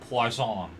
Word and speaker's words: poisson: beginning of this stream I pronounce it as poisson but I realized the oi is pronounced as so it's poisson which means fish by the way maybe